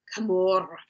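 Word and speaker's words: Camorr: I mean, uh, how how do you say camar? Usually, you say it like camor with that the end.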